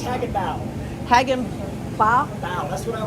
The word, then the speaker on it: Hagenbuch: I'm told it's pronounced Hagenbuch.